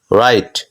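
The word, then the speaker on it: write: ডাব্লিউ এর উচ্চারণ সাধারণত হয় না দেখো এখানে রাইট ডাব্লিউ এর উচ্চারণ হচ্ছে না রং ডাব্লিউ এর উচ্চারণ হচ্ছে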